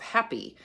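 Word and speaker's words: Hapi: as the wife of Happy um which is only spelled with one p but I love that it sounds like our English happy he was the god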